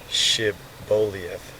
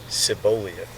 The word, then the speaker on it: Shibboleth: If he said no, then they said to him, "Now say Shibboleth," and he said Sibboleth, for he could not manage to pronounce it correctly.